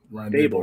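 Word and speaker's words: Daboll: show he said listen just say table except put da there instead of ta so it's brian david fable right there not table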